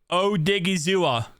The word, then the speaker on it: Odighizuwa: I see you comenting saying dude that's not how you say his name yes it is O Diggy zoa yeah bet you didn't think I was going to be able to say this one correctly I'm actually proud of